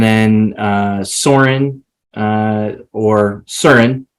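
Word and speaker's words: Søren: uh Soren uh or CERN if you pronounce it properly uh as the as the Danes would um but we're in the United States so we say Soarin uh the first conversation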